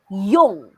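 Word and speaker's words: 用: the last two characters remember fourth intonation it's like you're angry oh it's like you're using the first stone or pinot pronouncement y mo y-o-n-g if we're going to use the fourth intonation it's young there's no need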